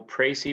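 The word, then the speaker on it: précis: go over the rhetorical pracy with you uh remember the pronunciation right uh the s is silent because it's a french word and when we complete these pricy we are actually taking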